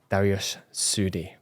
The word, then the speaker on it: Dariush Soudi: But without further ado, let's welcome this week's guest, Dariush Soudi. Perfectly pronounced.